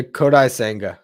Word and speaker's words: Kodai Senga: do is it kodai senga how do you pronounce the dude's name yeah yeah kodai Sanga yep uh five-year deal and oh yeah Justin